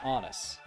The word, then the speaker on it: Honus: in baseball time and supposedly it rhymes with honest, but it was a fictional book so I It's Honest Wagner.